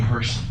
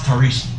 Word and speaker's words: Tarishi: Mine started in the 8th grade, when a classmate called me Hershey because he couldn't pronounce Torishi.